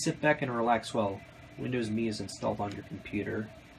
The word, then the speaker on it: Windows Me: me Oops I meant Windows me because it's pronounced me not not Emmy setup is now ready